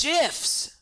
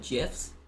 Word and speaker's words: GIF: he says it's jiffs it also makes sense when it's before an iron or an e or a y becomes a ju sound instead of a gu sound it's jiff how has no one learned this based on the guy who made it and grammar rules it's jiff but i do understand